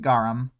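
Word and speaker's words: गरम: But I'm pretty sure it's pronounced garam without pronouncing the A at the end, even when the A is written.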